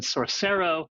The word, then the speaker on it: Sorcero: pronouncing this correctly and you said sorcero think of source code and sorcery I love that so